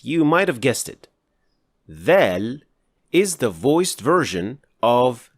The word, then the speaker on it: ظ: In other words, to pronounce Dha, you will pronounce Dhal as full mouth, which means you will raise the back of the tongue to create that full, heavy sound.